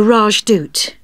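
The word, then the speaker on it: Rajdoot: in weatherfield is supposed to be excellent the rajdut oh how do you spell that r a j d o o t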